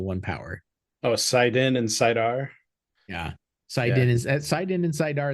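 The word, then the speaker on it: saidar: Oh, Sidin and Sidar. Yeah, Yeah. Sidin and Sidar is how I say it. I have seen people pronouncing it Sidine.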